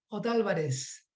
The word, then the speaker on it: Otálvarez: Otálvarez. Espero estar pronunciando bien, no veo acento en la A de Otálvarez, no sé si, supongo que sí. Sí, así está bien, así está perfecto.